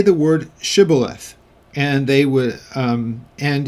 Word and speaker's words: shibboleth: him say the word shibboleth and they would and he would say sybileth without the s-h it would be s-i for they could not pronounce it correctly so it's oddly enough